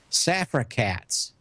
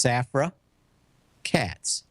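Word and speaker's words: Safra Catz: Safra Katz. It could either be one word or two words. Safra Katz. It's Safra Katz. You got to give a big pause.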